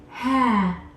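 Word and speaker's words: هاء: just a circle and it's called ha ha ha in this time the letter H makes a sound ha which is the same sound as their letter H in English this sound is ha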